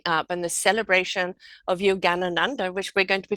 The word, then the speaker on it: Yogananda: even going to pronounce his name can you pronounce the name for me Michelle yes the name of the show is Yogananda dance it's a musical to celebrate Yogananda the